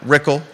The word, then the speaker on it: Rickle: got an Malik and Brad rickle rhymes with pickle contested election Bea pisto